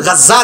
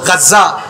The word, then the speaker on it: গাজ্জা: ইগুনতে মানচিত্র আঁকতে গিয়া বর্তমানে ফিলিস্তিনের গাজ্জা যেখানে আপনারা গাজা কেন আরবির উচ্চারণ হইল গাজ্জা, যেখানে গাজ্জা অবস্থিত ইখানে